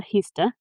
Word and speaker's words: Heaster: So to understand the tragedy of Zona Heaster Heaster, sorry, not Hester, Heaster.